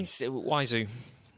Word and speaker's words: Wiseau: How do you say his name? Waizu.